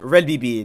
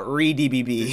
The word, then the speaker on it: Re:DBB: rated also BTD is pronounced red BB not rbb seventh episode of R